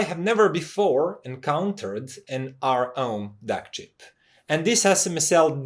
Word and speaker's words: ROHM: often, and it's called, I'll just pronounce it R-Ohm, because of the origin of the name of that company. R stands for resistance and ohm stands for, well, ohm.